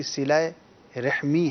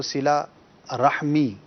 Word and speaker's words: صلہ رحمی: صلہ رحمی ہے, را کے نیچے زیر ہے. عموماً اس کو صلہ رحمی کہا جاتا ہے.